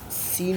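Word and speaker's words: س: अब सीन शीन का मैं कॉन्सेप्ट देता हूँ आप लोगों को।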